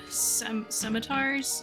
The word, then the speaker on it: scimitar: Yeah, I want to sell the 5 scimitars. How do you pronounce that?